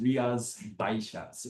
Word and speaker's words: Rías Baixas: But even within Galicia, where we are today is right here, Rías Baixas, because you're wondering how that's pronounced. Rías Baixas is how it's pronounced.